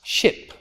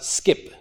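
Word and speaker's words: scip: the old english words which is written with an SC at the beginning is pronounced ship even though it's written what you might think of as skip it's pronounced ship so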